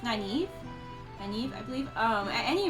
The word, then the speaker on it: Nynaeve: It was between Lon and Moraine and Nynaeve. I don't know why. It's not Naveen. We've determined that. I kept trying to call her Naveen, and it's not. I think it's Nynaeve.